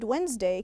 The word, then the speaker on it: Wednesday: what good pronunciation remember the word wednesday can be a little tricky has a d over there but we don't say it and the word thursday